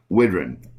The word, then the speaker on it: Widran: time please say hello folks to mr jonathan whidron thank you very much and thanks for pronouncing it correctly even after many years some